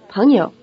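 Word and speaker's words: 朋友: type on ouya in the word for friend Ponyo the first syllable has the rising tone and the second syllable is in the neutral tone repeat friend Palio how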